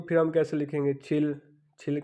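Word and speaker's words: 칠: उसके बाद है जी 70, 70 को फिर हम कैसे लिखेंगे, छिल, छिल का मतलब 7 और शिप का मतलब 10, यानी कि 7 10 होंगे तो ये 70 बन गया।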